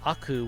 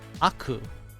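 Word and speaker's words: 悪: change the forms so this without it becomes aku which could mean evil by itself you clip the explanation i'll do it really really quickly but please fix your internet i'm not going to repeat this everything every three seconds see with it together is the word warui which is an adjective meaning bad but without it this just becomes the noun aku pronounced differently and it has a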